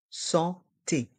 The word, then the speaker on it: santé: dans le mot santé le a et le N se prononcent en santé le carnet de santé